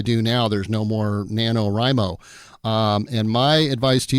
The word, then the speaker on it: NaNoWriMo: So today we're going to be talking about an organization called NanoRimo. And I'll spell that for you.